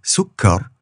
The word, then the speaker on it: sukkar: So this is sukkar rather than just sukkar.